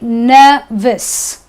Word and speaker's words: nervous: Now, words ending with OUS won't be pronounced as aus. It will be pronounced as iss.